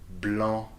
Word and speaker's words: blanc: So like blanc or monsieur, here the final consonants are not pronounced, okay?